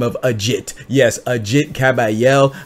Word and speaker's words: Agit: by the name of Ajit yes Ajit kabayel I pronounce it a jit it might be AIT cabel I call it a jit because a jit is legit you know a jit